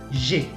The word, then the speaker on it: j'ai: y se pone AI, que se pronuncia E, como la E española. Entonces, en lugar de decir je ai, on va dire j'ai.